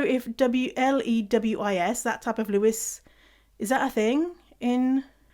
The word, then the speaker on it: Louis: It's spelled Louis, but they pronounce it Lewis. And so Louis, Louis, the UK, we would say that's Louis. But Canadians, Americans, for people from the States, say Lewis.